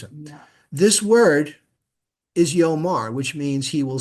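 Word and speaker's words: יאמר: This word is yomar, which means he will say. Why have the aleph there? It's a silent letter, it's a placeholder.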